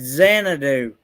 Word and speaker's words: Xanadu: That X is pronounced as a Z. It's Xanadu.